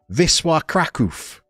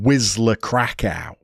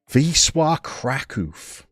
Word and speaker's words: Wisła Kraków: What I wouldn't want to do is pronounce it phonetically and call them Wisła Krakow.